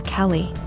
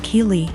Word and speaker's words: Kei: was calling my daughter Kelly my daughter's name is Kei pronounced ke so after school was